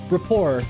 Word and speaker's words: rapport: I will hang on uh how do you pronounce that raor Rapport okay thank you I've always I've always thought